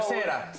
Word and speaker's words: Sahuesera: Sahuesera. Sahuesera, Westchester. Do you guys understand what La Sahuesera means? Southwest. Sahuesera. Oh my God! The Cuban style. That's how we are pronouncing it down in Miami.